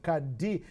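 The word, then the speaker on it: Qadr: That's Kadi Amini, spelled Q-A-D-R, but pronounced as if there was an I between the D and the R.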